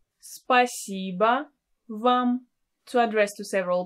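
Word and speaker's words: спасибо: spiciba by shoye you can add a pronoun spa siba tibia so you can use any word order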